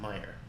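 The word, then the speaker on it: Meijer: about three miles away called they call they pronounce it Meyer but it's but it's spelled measure it's it's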